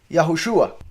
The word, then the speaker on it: יהושוע: Ambos se pronuncian Yahushua, por si algo.